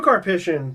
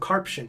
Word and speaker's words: Karpyshyn: So Drew Karpyshyn... Thank you. I used to call him Karpshin, but then I noticed there's 2 Ys.